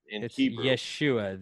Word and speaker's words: Yeshua: i'm so he probably Yeshua Yeshua which is kinda like Joshua which is kind of